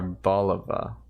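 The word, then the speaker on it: Arboliva: so bad at this are Bulova that's how you pronounce it because it's Olive um has a signature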